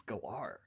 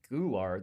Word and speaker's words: Galar: Pronounce the word G-A-L-A. Gal? G-A-L-A. Like a Gala. Like a Gala. A gala. Galar region. Gular. That is wrong.